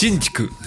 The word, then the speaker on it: Shinjuku: So yeah, no, it's not called Shinju. How do you say in Japanese? Or Shinjuku. Yes, Shinjuku. we have to. Yeah, we have to name it right. We have to use the correct pronunciation for the era.